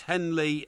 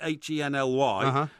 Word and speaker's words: Henley: And it's not spelt with an EY at the end. It's Henley, Henly.